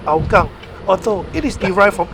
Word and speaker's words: Hougang: use in Singapore anyway back to the name aokang although it is derived from either Hopkin or Kyushu dialect eventually in writing with Chinese character and pronunciation in Mandarin is hogang it actually means River and in hockey or